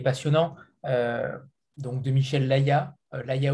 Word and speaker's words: Layaz: Donc de Michel Laya, Laya ou Layaz. Nous, on ne prononce pas le Z, mais vous pouvez le prononcer.